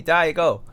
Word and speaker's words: Diego: of a few of my Chinese friends parents would call me Daigo and now at first I was like oh it's Diego and they're like oh no no it's just the way we can pronounce it so it just works for us I'm like okay that's